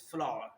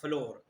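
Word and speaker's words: flour: d need the floor actually its actual pronunciation is flaw not floor Atta I take flaw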